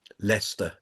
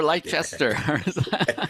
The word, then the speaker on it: Leicester: Think of it as L E S T E R. Lester.